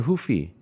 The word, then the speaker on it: Ruffy: Is it Ruffy or Hoofy? You said Ruffy, Fabiano, but I say Hoofy because I thought in Portuguese the R is... You're right. I just tend to do that. You anglicize it.